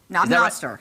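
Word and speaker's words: Knob Noster: Now, this one's based in Knob-Noster, and I can't say that I've ever heard that. Wait, say that Knob-Noster. Knob-Noster.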